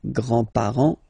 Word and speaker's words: grands-parents: Remember, you don't pronounce this final S here, grands-parents, okay?